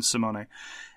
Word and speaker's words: Simone: Similarly, there are three syllables in Simone.